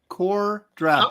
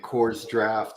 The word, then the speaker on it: Kor-Drath: the stream about debating on how to properly pronounce the title of your book, Andy. You're muted. Kor-Drath. Whoa. And And you're what muted. did you think it was? We were both saying like Kor-Drath and Kor's Draft and stuff like that.